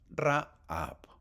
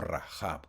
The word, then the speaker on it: Rahab: Entramos al punto número dos y se llama Rahab, o Rajab, como quieras pronunciarlo.